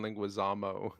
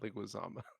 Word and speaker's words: Leguizamo: name this whole time it's john linguazamo not linguazama yeah we've been saying